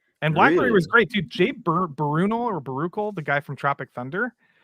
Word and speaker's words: Baruchel: Jay- Jay Baruchel. That's how you Oh, pronounce it.